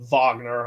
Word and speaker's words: Wagner: I know that says Wagner, but over there they pronounce it Vagner.